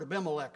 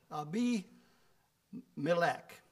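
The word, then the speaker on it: Abimelech: have used this uh I've pronounced this word AMC for a long time and then I looked it up today how it's supposed to be pronounced so I will try and see if I can change my thinking to how it's supposed to be pronounced and it's supposed to be pronounced ABC ab be meac so we'll see if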